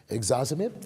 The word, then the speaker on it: ixazomib: There's one that's ixazomib. Ixazomib. Did I pronounce that right?